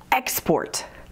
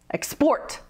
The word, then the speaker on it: export: Export has two syllables, and the stress changes depending on if you're using this word as a noun or a verb. As a noun, we put the stress on the first syllable. Export, export, export. But as a verb, we put the stress on the second syllable.